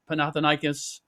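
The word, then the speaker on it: Panathinaikos: Uh it was uh Fenerbache versus Panathan uh Panathanikas. Did I pronounce that correctly?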